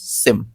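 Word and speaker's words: SIEM: एस आई एम देखो यहां पे साफ-साफ बोल रहा है एस आई ई एम सिम pronounce सिम।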